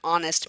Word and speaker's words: honest: like an honest man sounds like with an it sounds with with an O even though honest is spelled with an H.